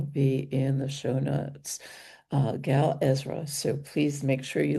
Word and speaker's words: Gal Ezra: yourself It's Gal, Gala, Ezra, Ezra. So Gal A. Ezra. Gal Ezra.